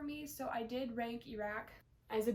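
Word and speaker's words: Erak: I say Iraq because that's how I read it.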